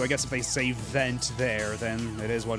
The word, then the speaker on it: Vent: because like it's spelled the same way cuz va is in French is spelled v e n t and the Japanese uh voiceover says van cuz that's how you transliterate vaugh into Japanese so they just call him vent.